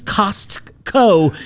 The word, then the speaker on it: Costco: It was always Costco. You just don't pronounce the T and that's why your brain thought it that way.